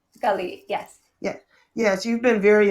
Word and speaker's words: Galit: Is that how you pronounce it, Galit? Galit, yes.